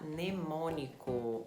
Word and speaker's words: mnemônico: Sim, o M é mudo, se fala mnemônico, ou em inglês mnemonic.